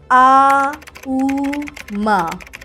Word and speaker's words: ओम: तौर पर अगर हम ओम बोलते हैं तब यहां ओम को हम तीन फ्रीक्वेंसी में में उच्चारण करते हैं आ उ म जहां हम अनुभव करते